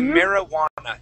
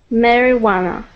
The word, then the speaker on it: marijuana: word here is marijana marijuana so we don't pronounce that J as AQA okay we say marijuana try that marijuana good good okay uh the next word is